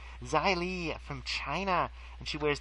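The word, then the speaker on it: Xia Li: did verse is xylene spelled with an X zai Li from China and she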